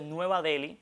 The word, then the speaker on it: Nueva Deli: caso de Nueva Delhi, esa H ahí ahí detrás de la L, no tiene un sonido propio en español. ¿Qué hacen las academias? Recomiendan entonces omitirla. Y aunque quizás a los televidentes les resulte extraño escribir nueva Del sin H, las academias recomiendan que se omita esa H, como mismo en